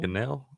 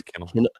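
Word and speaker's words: Kanell: Cannell? Kennel? I think it is Kennel.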